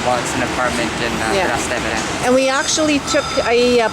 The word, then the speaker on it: Trastevere: We are in, how do you pronounce it, Benjamin? Trastevere? No, Trastevere.